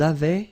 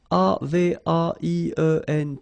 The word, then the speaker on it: avaient: And then you saw probably that we've got also here A-V-A-I-E-N-T, but then you pronounce it avait. So the same way as we pronounce here, okay?